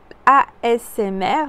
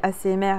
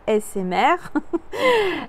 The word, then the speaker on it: ASMR: de la de la asmr je le prononce bien parce que souvent je dis assez mère alors que c'est assez asmr je fais d'autres contenus